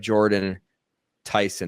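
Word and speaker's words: Jordyn Tyson: He had a big loss this last week and by way of Jordan Tyson. Am I pronouncing that correctly?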